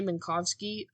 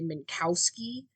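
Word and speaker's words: Minkowski: actual real pronunciation because the main narrating character Doug Eiffel pronounces it Renee manowski for like years when they're on this space station together because it's spelled with a W awesome but she just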